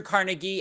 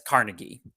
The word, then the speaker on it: Carnegie: and you us steel um or also pronounce carnegi uh as he was originally Scottish but you know then when he comes to the United States a lot of Americans pronounce it as Carnegie but Carnegie will ultimately